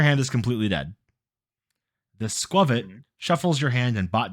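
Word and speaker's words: Squawkabilly: Squavit, because that is how you pronounce the name. It is Squirrel plus Covet, so it becomes Squavit.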